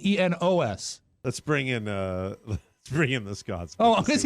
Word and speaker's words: Enos: the spinoff from the Dukes of Hazzard, Enos, was spelled E-N-O-S. Let's bring in the Scotsman. Oh, to see is he what still doing. here? Oh, no, I think it should be Enos. Rhymes with penis.